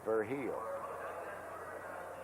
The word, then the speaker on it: Virgil: over hill I'll see Virgil junior all right his real pronunciation is ver he'll 278 one homer 5